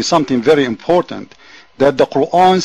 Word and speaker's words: Quran: you the is not it's not Quan it's quanan Quran he doesn't know how to pronounce it I have to